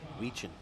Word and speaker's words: Weechin: Oh, Tim Weechin. Okay, that's how you say it. Ah, I like that better. Weechin. I was saying Wyken. I mean, you can say Wyken too.